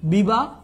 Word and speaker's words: বিবাহ: মধ্যে পড়েন না বাট এই বিবাহ শব্দের উচ্চারণটা হবে কি জানো বিবাহ এটার কারণ হলো শব্দের শেষে যদি হ ধ্বনি থাকে তখন এটা ঔকার হয়ে যায় সো বিবাহ এরকমটাও আমরা